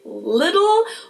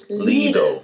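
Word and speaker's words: Lidl: Most Americans I know say something like little, while the correct German pronunciation is leo. It might be a little hard to say, but I think it helps to know that both of the L sounds are light L's to pronounce with the top of your tongue. So it's le instead of little.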